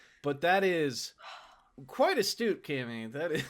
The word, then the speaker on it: Kami: I'm like, you know, you get a cameo in a film. Cut the O off. Oh, comedy. Cammy.